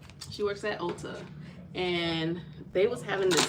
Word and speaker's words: Ulta: Is it Ulta? Ulta, right? That's how you say it, Ulta.